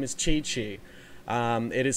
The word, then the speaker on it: Qiqi: took one look at that and were like, QiQi, do you love me? Like it, got that instantly stuck in my head. But it is pronounced, Chichi.